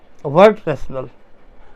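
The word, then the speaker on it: Wertrational: और दूसरा जो है इसको पढ़ते हैं हम लोग वर्ड रैशनल।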